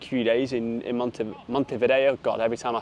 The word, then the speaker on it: Montevideo: I have to uh remember how to pronounce it not to say mon Vio not to say mon vagio as if I'm Italian but there's just so